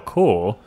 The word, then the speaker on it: corps: After I read it, I read the pronunciation next to it, and I was like, oh, I don't know how to say that word. Core. I said that word incorrectly.